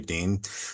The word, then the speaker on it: Dehn: Yes, I know the name is spelled weird d e h n, but the German pronunciation is actually Dean.